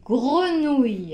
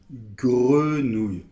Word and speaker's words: grenouille: - Alors maintenant, un mot qui est souvent très difficile pour vous, c'est : grenouille . - Oui, alors "gre" et c'est à cause du G justement et peut-être du E aussi : grenouille .